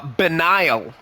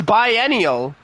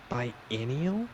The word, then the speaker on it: biennial: heard this word before uh benile i've heard a benign biennial what's on the nile taking place every other year biennial bilineal no it's biennial biennial b-i-e-n-n-i-a-l b-i-e-n-n-i-a-l yeah yeah that is biennial what oh okay it